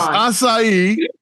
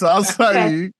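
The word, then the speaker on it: açaí: Is it a kai? Is it asai? Oh my gosh. What the hell? It's asai. It's asai.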